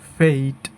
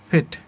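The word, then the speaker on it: fate: এটাকে আমরা সাধারণত সঠিক উচ্চারণ করি ফেইট, ফেইট। অনেকে আবার বলে এভাবে ফেট, নট ফেইট, এটা হবে ফেইট।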